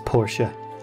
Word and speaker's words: Portia: was a good friend oh I'm pronouncing it wrong it's Portia like the car all right so I've